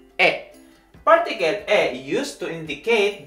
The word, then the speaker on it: へ: japanese language is particle e in in alphabet it is written as hai but if you use it as particle so it is pronounced as e particle a used to